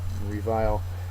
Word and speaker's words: revile: last word is revile revile uh is a verb second syllable is accented just think of the word vile when you think of revile because that's part of it something it's vile is